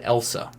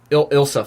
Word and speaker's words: Ilsa: It's Ilsa. That's how you say it, right? Yeah. Yeah. I don't... For some reason, I always want to go to Elsa, but... Close. Yeah. It's Ilsa. It's with an I, I'm pretty sure.